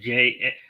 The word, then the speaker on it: Jarrett: My niche is how you pronounce my name is Jared Jarrett, but in the proclamation it'll be JAR possibly RETT.